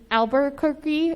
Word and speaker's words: Albuquerque: And so I will also be casting my vote for, I believe it's Albuquerque. Is that how you say it? Perfect.